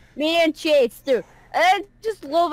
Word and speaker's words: Manchester: So They really put emphasis on the man.